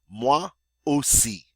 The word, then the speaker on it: moi aussi: Now we have a phrase, a two-word phrase, moi aussi. Moi aussi. The OI is the wa sound, the AU is the O.